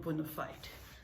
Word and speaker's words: bona fide: And if you are a bona fide family member, bona fide. Not that I said bona fide, not bona fide. That's the right pronunciation, bona fide.